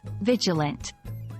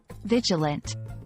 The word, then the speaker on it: vigilant: about how to pronounce Vigilant the first syllable is pronounced like Vig in Vigor the second syllable is